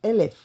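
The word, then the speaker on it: אלף: si equivale a 1000 se pronuncia Como elef así tenemos allí todos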